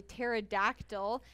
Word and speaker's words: pterodactyl: This one is called a pterodactyl, and I know that because it has a weird spelling. It's actually spelled with a P. It's PT, Wow, right? it's a silent P.